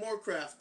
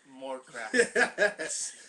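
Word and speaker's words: Morecraft: Moorcraft. Christian rhymes with Warcraft. Moorcraft.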